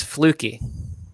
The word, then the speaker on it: Fluke: Chris told me the proper way to pronounce it. It's fluky.